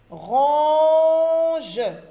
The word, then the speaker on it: ronge: Ronge, ronge, O-N nous donne le son O. Ronge.